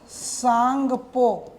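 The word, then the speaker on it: Tsangpo: अब आईटी का मतलब आई फॉर इंडो और टी फॉर सांगपो टी is silent S for Sachar and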